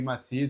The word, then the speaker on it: Massis: Porque eu apanhei dessa pronúncia e graças a Cris Massis, que é filha do Harry Massis, eu soube a pronúncia correta, ela me ensinou a pronúncia correta.